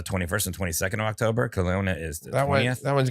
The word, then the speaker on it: Kelowna: That's Kelowna, Canada. That one's gonna sell out. That one's coming. Gonna sell out. And then you've got Vancouver, British Columbia on the 21st and 22nd of October. Kelowna is the 20th.